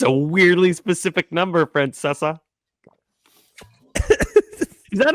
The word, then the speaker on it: Francesa: It's a weirdly specific number, Francesa. Is that not how you pronounce it?